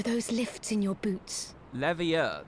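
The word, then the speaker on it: Leveilleur: Levier, that's how we say his name.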